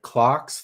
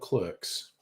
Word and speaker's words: Clerks: If it was an Australian or English movie, I would be calling it Clark's 3 because that's the correct way to pronounce it.